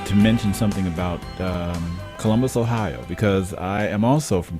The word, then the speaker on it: Ohio: And it's not Ohio. You notice I said AHIA. That's right. Where'd you go to school? I went to Ohio State. that kind of central southern Ohio pronunciation of a little more A's and O.